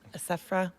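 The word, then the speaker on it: Assefa: How do you say her last name? Asafra? Asafa. Asa- Her last name is Asafa.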